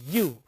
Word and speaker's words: ewe: So, that is when you pronounce the word, that is you, that is not you. So, it also affects the pronunciation part, affects even the grammar part. For example, if you say I have seen dash EWE grazing or on a road, you cannot say an you, you can say a you.